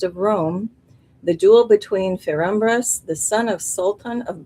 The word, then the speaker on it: Ferumbras: Sir, like a S-I-R, Sir, I think it's pronounced Ferumbras.